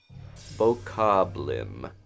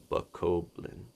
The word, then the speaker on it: Bokoblin: Bokoblim. Oh, somebody says an M at the end. Okay. Bokoblin. It's interesting reading pronunciations out.